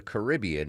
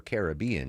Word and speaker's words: Caribbean: What exactly is going on in the Caribbean or Caribbean depending on how you pronounce it.